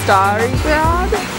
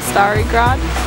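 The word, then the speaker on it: Stari Grad: the main entrance of the old town which we learned is star gr that's how you say it star gr means the old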